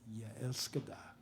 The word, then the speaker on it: Jeg elsker dig: It's "Jeg elsker dig."